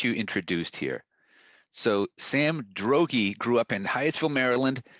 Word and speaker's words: Droege: right please uh correct right rhymes with hoagie hoagie yeah so drogy is that would that